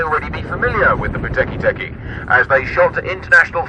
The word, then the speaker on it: Whakatipu: The reason for the difference in the pronunciation is the presence of an H following the W in the Te Reo spelling, and in Te Reo Māori, the WH combination produces a pronunciation like the letter F in English.